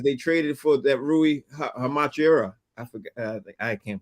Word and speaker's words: Hachimura: People were talking about the Lakers because they traded for that Rui Hachimura. I forgot. I can't pronounce his name.